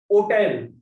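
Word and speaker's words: hôtel: Hotel. H is silent. So hotel. Hotel become hotel.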